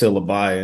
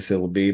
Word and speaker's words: Syllabi: Yeah, I was today years old when I learned it's pronounced syllabi instead of syllabi, but I'm sure I'm not the first person who's mispronounced.